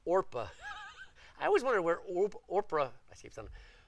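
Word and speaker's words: Orpah: the moabite girls and their names were not Oprah do you see Oprah there it's not Oprah it's orpa I always wondered where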